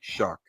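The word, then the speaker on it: Shough: You would never expect that his last name is pronounced like Shuck when you're looking at it.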